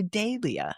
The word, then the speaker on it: Dahlia: It's funny the Brits say Dia and I see that H and I can't go Dia. I want to say Dalia.